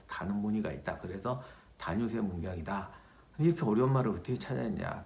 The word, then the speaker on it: 다뉴세문경: 지난 시간에 제가 그 영상 중에서 실수했던 게 단유세 문경을 다세뇨 문경이라고. 내가 원래 옛날부터 그걸 다세뇨 문경이라고 꼭 발음을 해요. 그래서 그날도 내가 확인까지 하고 했는데 막상 찍다가 보니까 또 실수를 한 거예요. 그 원래 대본은 이게 단유세 문경입니다.